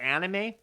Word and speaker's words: anime: The anime? It's anime, Jay. There's no little circle on top of the A. I think about anime, and I think about like my cousin from the States.